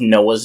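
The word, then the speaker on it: נח: the verb form of Noah's name in Hebrew you would pronounce Noah's name Noah it's almost like a k sound at the end so God nowaked the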